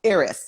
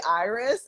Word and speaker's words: Iris: so i'm from austria so there it is pronounced iris aries okay i just wanted to be sure because in english we say iris and i was like